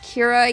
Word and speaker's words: Keira: My japanese name is Keira. It's pronounced Kira, even though ei in japanese is more of an a sound.